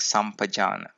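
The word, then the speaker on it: sampajāna: Note that the two words are actually sun and pajana, so they combine to give sun pajana, but it rhymes like sampajana.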